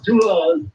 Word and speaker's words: Toulon: Well, so it could be Did I pronounce the town right? Is it Toulon? Toulon.